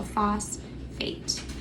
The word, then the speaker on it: phosphate: So it's going to be, this PH makes that F sound. So I have phos, and then 8. I don't hear an F there. So that's going to make an irregular sound, but I know that 8 is going to be together. So phosphate.